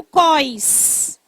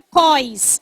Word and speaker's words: cós: i aqui no Ceará, a gente diz o cos, não é cós, é cós, o cós da calça, onde se passa o cinto, tá?